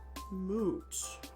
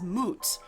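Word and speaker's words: Mut: So, the vulture is usually des you usually say it as moot because there's a goddess moot who is a vulture goddess.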